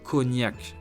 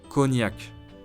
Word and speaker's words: cognac: Number 6 is cognac, a famous French alcohol made from wine, which is already an alcohol, so it's pretty strong. Try it once if you can. Ready to repeat? Cognac, cognac, cognac.